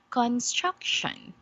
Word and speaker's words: construction: struck okay yeah and here we have to put our emphasis or the sound on the second okay syllable it is where we put on the stress did you get it okay so how do we read that again that is construction Thank You sandy okay